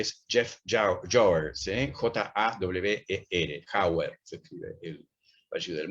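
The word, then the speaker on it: Jawer: J-A-W-E-R, Jauer, se escribe el apellido.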